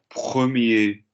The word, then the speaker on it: premier: Premier, première, dernier, dernier. Listen to me. Petit. Male, female. Premier, we're not pronouncing the R on the end.